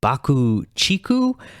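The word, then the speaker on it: BUCK-TICK: on it it's a remix of iconoclasm from bucktix 1989 lp taboo uh apparently their name is actually pronounced bakuchiku but i feel like it would be kind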